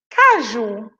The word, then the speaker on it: caju: Cajú né caju caju onde é que tá a sílaba mais forte aí você vai dizer a sílaba tônica que é a mesma coisa desfilam mais forte aí você vai dizer olha é cá é Ju e aí lá na